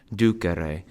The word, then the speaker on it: dūcere: So it's a long A in laudāre, a long E in docēre, but a short E in dūcere, and a long I in audire.